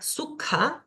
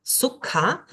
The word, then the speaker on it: sukha: Luego tenemos acá la palabra sukha, sukha, una K pero aspirada, K, sukha, que significa fácil.